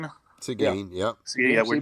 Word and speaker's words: Seguin: But I don't know if it's pronounced Seguin. yeah. Seguin, yep.